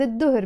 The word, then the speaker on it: الظهر: بعد الظهر, again pronounced as بعد الظهر because the dot is a sun letter.